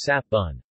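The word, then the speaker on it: 雪文: In Taiwanese, which is a variant of Hokkien that is not influenced by Tagalog, it is pronounced as sap bun.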